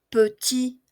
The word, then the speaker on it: petit: Petit, petit. Se pronuncia hasta la I.